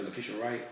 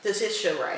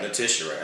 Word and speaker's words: Letitia Wright: How you say Lucretia Wright? How you say her name? The one that played Siri off of Black Panther? Letitia Wright. Letitia Wright.